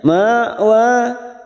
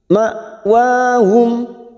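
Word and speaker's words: مأواهم: Summa ma ada hamzah sukun, jangan samakan dengan ain ya, cara membacanya dengan tegas ma, jangan sampai diseret, jangan sampai ma'wa, tetapi ma'wahum wa fathah berdiri 2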